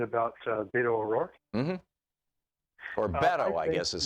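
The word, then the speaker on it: Beto: Beatle roar mm-hmm or battle I guess is how its it's supposed to be pronounced like bet not like bait anyway bet oh yeah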